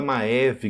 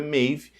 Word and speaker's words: Maeve: um comentário ali sobre a pronúncia do nome da maiv né não da maev como a gente tem falado né que é correta mave então a partir do